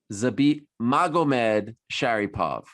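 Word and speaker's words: Zabit Magomedsharipov: Zabit Magacheryapov. Close enough. Say it. How do you say it? Zabit Magomed Sharipov. Okay. It's actually not that tough, that one. It's just basically two names.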